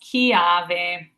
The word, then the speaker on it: chiave: We have that CH here, makes it a hard ka. So it's pronounced chiave.